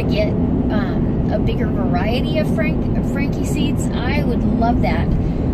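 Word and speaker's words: Franchi: was on Frankie Seeds, and it's Frankie, the guy pronounced it Frankie, and it's the oldest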